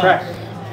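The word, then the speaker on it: craic: It's the Irish, it's their like thing of having fun. Good crack. I think it's spelled C-R-A-I-C.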